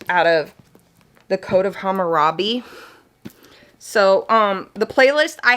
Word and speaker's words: Hammurabi: I can say it now, Hammurabi.